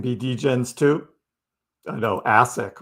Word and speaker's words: ASIC: ASIC. All right, it's pronounced ASIC. Oh, you got me again. You're right. It's pronounced ASIC, not spelled out.